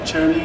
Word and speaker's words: Cherami: My question is for Cherami, is that how you say it? Yes, Cherami and Bryce.